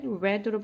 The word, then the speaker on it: read: have pp니까 read red으로 발음하시고 그래서 what 여기다 이제